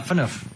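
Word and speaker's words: Phaneuf: Uh Fenu.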